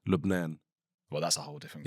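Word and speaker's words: لبنان: But in in what's the language there? Arabic. Well, how does it sound there? Lubnan.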